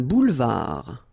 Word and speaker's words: boulevard: Un boulevard. Final D, not pronounced.